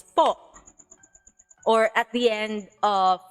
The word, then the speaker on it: po: on its own, it's po. Or at the end of the sentence, magandang gabi po. But if you put it in the middle of the sentence, the sound changes magically into an ooh.